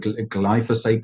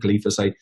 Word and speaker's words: glyphosate: is made by Monsanto's I've got how to pronounce it I believe for seat the boat so pronounce its be for sat though in Spanish but glyphosate glyphosate so they would dump this